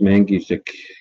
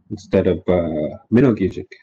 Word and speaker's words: Mangijik: And now it's pronounced Mangijik instead of Minogijik, just because that's how she thought it would be spelled, using the English alphabet.